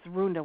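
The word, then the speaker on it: rúnda: the Gaelic language and it was runda with the accent on the U so this is where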